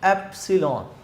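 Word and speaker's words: epsilon: इस वर्ड को जब आपने प्रोनाउंस करना है, ये सिंबल है एप्सिलॉन, एप्सिलॉन, ठीक है, एप्सिलॉन नॉट and this is एप्सिलॉन आर।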